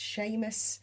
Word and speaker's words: Seamus: this is Sheamus Jack that's Sheamus because I absolutely love the name and it rhymes with famous um and Jack after